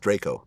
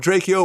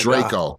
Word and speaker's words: Drakeo: son Lov dra Yo's music I think it's pronounced Draco Draco yeah I remember I called him drao once and he was like Draco Draco it is Draco let me it's spelled